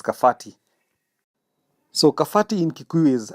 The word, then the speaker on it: Kabati: So initially in the old Kiku language letter B is pronounced as letter F and so for kabati they read it as kafhati.